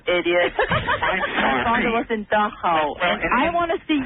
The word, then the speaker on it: Dachau: Dachau. It's not Dachau. It's Dachau. It must have been weird